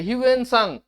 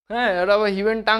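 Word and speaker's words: হিউয়েন সাং: কি কি মত বলেছে হিনসাং ভালো করে উচ্চারণটা দেখবে হিউনসাং হিনটাং বলবে তোমরা হিউনসাং তো হিউনসাং ফেমাস চাইনিজ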